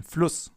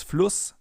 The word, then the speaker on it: Fluss: Because in front of a double S, the vowel is always pronounced short, as in Fluss or Kuss, for example. If we would take a sharp S here instead, it would be Fluss or Kuss. But it's Fluss and Kuss.